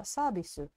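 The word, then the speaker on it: サービス: they call it service like the english word service for some reason but in a japanese pronunciation so they say ah sabisu and that means just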